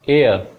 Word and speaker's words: heir: और HEIR एयर, उसे यही लिखा जाएगा एयर।